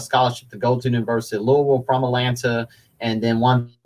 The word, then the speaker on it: Louisville: it but the local people the locals said louisville so you're saying it correctly there you go